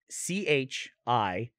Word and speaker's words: Chicon: How do you pronounce C-H-I-C-O-N? Oh, Chicon. Chicon. Here, it says Chicon. Or Chicon Street. Chicon. Mm-hmm. It says Chicken Street.